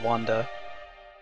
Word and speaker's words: Wander: The main character's name is Wander, which in Japanese you'd pronounce that as Wanda.